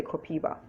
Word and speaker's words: copaiba: anti-inflammatories another oil called copiba is uh it's spelt uh c-o-p-a-i-b-a some people say copaiba some people say copiba but that's also a